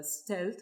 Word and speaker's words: Xealth: But in some other cases, like this one company based out of Silicon Valley called Stealth, which is spelled XEALTH.